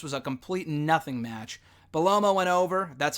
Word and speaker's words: Bellomo: Bellomo went over, that's how you pronounce it, with the Boss Man Slam, the big Boss Man's old finisher, the walking sidewalk slam.